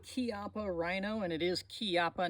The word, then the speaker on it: Chiappa: Rhino and it is kiapa not Chiappa in uh Italian if it's Chi you pronounce it key like k-e-y in English if it's a c